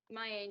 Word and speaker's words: Magh Ene: I believe you're a 14-year-old student in, what's the school, Magh Ene? Am I pronouncing that correctly? Magh Ene, yeah.